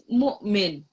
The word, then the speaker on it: مؤمن: It's now we have hamza here, so it's mu'min.